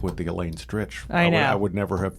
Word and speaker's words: Stritch: that because the spelling of my name originally is much more Germanic s r e i c h is that why you like people look at it they go strike right but we always pronounced it stretch in my family forever so when I